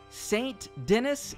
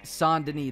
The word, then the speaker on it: Saint Denis: you who don't know Saint Denis is actually pronounced San Denis that's the correct pronunciation there is a side